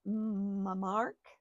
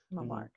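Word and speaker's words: Mmarc: I call him Mamark. M-M-A-R-C. Mamark.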